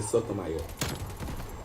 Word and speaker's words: Sotomayor: People will say it wrong, whatnot. If you want to say it right, it's a Sotomayor.